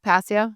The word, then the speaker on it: Passio: Passio, that's how you say it?